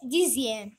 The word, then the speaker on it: dixième: Le premier mot est dixième. X se prononce Z.